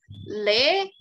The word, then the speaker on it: les: yang seperti juga berlaku tapi dia esnya itu tidak dibunyikan walaupun di tulisannya ada esnya GPS ketika ada tulisan seperti ini maka dibaca dibacanya adalah lele vokabuler ya walaupun itls